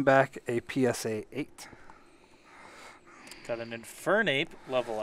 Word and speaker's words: Infernape: a psa got eight infernape level x it came back aside you're putting the wrong emphasis on the wrong syllable wait infernape infernape infernape infernape inferno ape we got solomon's level